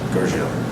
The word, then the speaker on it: Gurgel: with my friends on how to pronounce George's last name. Gurgel. I have one friend who says Gurgle. I'm like, that's not his last name.